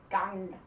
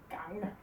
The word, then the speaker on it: gang: This NG sound in Danish, that's like and we always, so the NG always makes that sound, gang, gang.